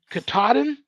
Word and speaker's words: Katahdin: top of and Barry told me how to pronounce this to the mount mount Katahdin got to the top of Mount Katahdin where